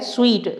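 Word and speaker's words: suite: इसको सूट नहीं पढ़ना आपको, है ना। तो ये सूट है कपड़ों वाला, और ये क्या है? स्वीट।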